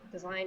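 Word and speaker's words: Dasein: me on twitter at this is my design design is spelled capital d a s e i n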